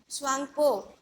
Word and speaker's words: Tsangpo: Spelling T silent होता है इसमें, TSANGPO, स्वांगपो.